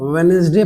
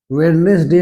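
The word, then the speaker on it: Wednesday: जैसे आप देख ले ये डब्लू ई डी एन एस डी वाई इसको आप वेनसडे पढ़ेंगे वेडनेसडे नहीं वेनसडे फ देखि पर डी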